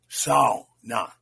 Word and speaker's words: sauna: I also note the uh I note the correct uh Finnish pronunciation of SA. It's it's like cow sa na.